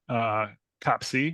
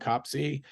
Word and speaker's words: COPC: The community seems to be coalescing around COPC, but you'll hear COPIC quite a bit too. That's the English American pronunciation.